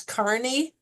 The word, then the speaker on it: Kearney: One of them is a man named Dennis Carney. It looks like it's spelled Kearney, and I've one year